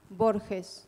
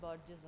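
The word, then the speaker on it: Borges: I'm so sorry okay how is it pronounced bores in Spanish bores bores uhuh Lis bores okay thank you okay I'm sure everybody called him bges only yeah uh good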